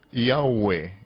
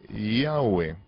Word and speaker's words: Yahweh: Se pronuncia Yahweh, Yahweh, Yahweh.